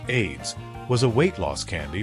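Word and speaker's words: Ayds: On the diet front, AIDS, pronounced AIDS, was a weight loss candy from the 1970s that lingered into the 1980s.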